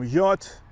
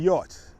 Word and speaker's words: Hjorth: greetings from yacht road park spelled h-j-o-r-t-h i hope i got the pronunciation correct i'm here today for